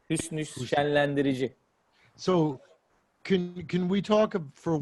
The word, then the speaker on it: Şenlendirici: How do you pronounce his last name? Hüsnü şenlendirici.